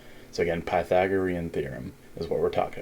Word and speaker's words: Pythagorean: there so that's okay again the way to pronounce that is like this you would say pi Oreo and Pythagorean I'm the o r M so again Pythagorean theorem is what we're talking about again the